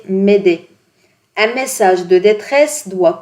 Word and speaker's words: Mayday: de détresse qui est le Mayday prononcé m'aider un message de détresse